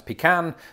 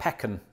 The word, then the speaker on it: pecan: of it of course there's also the conundrum about how you pronounce pecan i just settled on pecan don't know why but i think all pronunciations are fine except pekkan sounds weird oh and speaking of